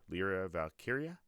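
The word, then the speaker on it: Lyra Valkyria: and valky how do you say her name lra valkyria yes nice so came down to those four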